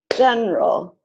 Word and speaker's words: general: So all of these words are pronounced aspirin, average, Barbara, business, camera, different, evening, every, family, favorite, federal, general, interest.